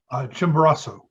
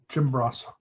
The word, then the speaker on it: Chimborazo: Chimborazo. Chimborazo? Yeah. Chimborazo.